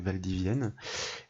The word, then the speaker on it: Valdivienne: de doublon voyez avec cette ville qui se prononce donc Valdivienne et bien il y a donc différents codes